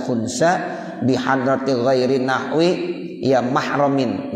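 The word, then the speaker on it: محرم: bihadrati ghairi nahwi ya mahramin. Ini bacanya mahram ya, bukan muhrim. Kalau muhrim orang lagi ihram ya, kalau mahram ya yang masih saudara ya itu.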